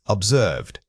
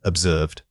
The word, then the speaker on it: observed: This word is often mispronounced because people drop the final "to" sound. Make sure you articulate that slight puff of air at the end. The middle vowel needs to be drawn out slightly for maximum clarity.